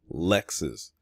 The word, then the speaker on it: Lexus: Her first name is actually Lexus, like the car.